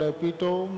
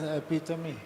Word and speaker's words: epitome: Gupta Sahib was correcting the pronunciation of the word epitome as epitome, right? So he will correct my pronunciation also. That is not epitome, it is epitome of courage and resilience.